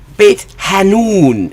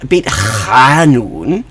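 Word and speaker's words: Beit Hanoun: place that you know Israelis go out of their way to mispronounce the letter ha it's I mean because this Hebrew has the sound it's h humus ham you know bit hanon it's not biton but for some I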